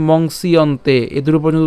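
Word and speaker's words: মংস্যন্তে: দুপুরতং monks ইয়ন্তেত এই জিনিসটাকে আমরা বলেছি কি মংসিয়ন্তে এই দুটো পর্যন্ত উচ্চারণ করতে এই যে পুরাটাই আমরা একসাথে উচ্চারণ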